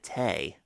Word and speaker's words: tea: T-E-A. I would normally pronounce it tea, but on Reading Rainbow they pronounced it tay.